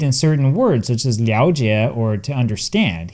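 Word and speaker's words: 了解: certain words, such as liao jie, or to understand. Here it is pronounced liao. Now, there are so many compound words where it's pronounced liao that I can't possibly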